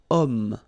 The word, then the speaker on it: homme: Remember, H is not pronounced, okay? So you've got the sound of O at the beginning of this word, okay?